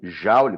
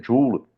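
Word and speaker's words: Joule: James prescot jul tá ou jaou como se chama mas a pronúncia jul tá é quem vai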